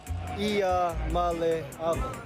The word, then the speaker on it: Iamaleava: Iamaleava? Iamaleava. The correct way to pronounce my last name is Iamaleava.